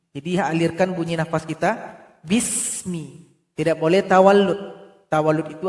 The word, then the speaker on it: bismi: Perhatikan ayat yang pertama, di sini ada huruf sin, jangan dipantulkan. Enggak boleh dibaca bisa, harusnya dibaca bismi. Jadi alirkan bunyi nafas kita, bismi.